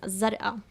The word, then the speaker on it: Zarqa: She lives somewhere around in Zarqa, that's how they say it in Jordan.